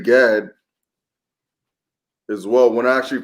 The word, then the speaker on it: Gad: When you Gad. It's Gad. But when you spell it out, it's ah.